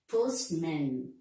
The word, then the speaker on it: postman: Not postman, postman. That is stress on the first syllable.